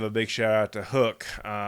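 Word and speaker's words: Huk: probably run into the Hook gear. H-U-K is the way Hook is spelled, and they really have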